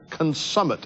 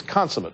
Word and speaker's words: consummate: his politics is it can sum it and that's the right way to pronounce that by the way a lot of people think it's consummate but it's not it's consump you look